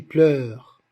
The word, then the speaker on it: pleurent: Par exemple, les mois, les jours, les flots qui pleurent. On n'a pas dit qui pleure, non, qui pleure. Tout ce mot se compose d'une seule syllabe, parce que ce E, il est muet.